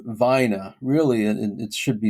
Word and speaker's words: Vina: So, and he's the one who gave the the name Vina. Really, it should be it's Spanish, but it should be pronounced Vigna.